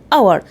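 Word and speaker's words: hour: طلع يعني صوت متحرك لان الاتش هنا اصلا سايلنت ما بنطقهاش يبقى كده اقول ان اور ان اور طيب لو قلنا يعني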